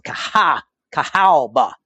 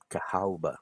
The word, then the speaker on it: Cahaba: And now it's been updated to just Cahaba, no W. But it's still kind of pronounced like that. So Cahaba. Cahaba.